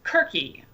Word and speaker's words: Circe: Madeline Miller's Kirke, or Circe, depending on how you pronounce it, did really well.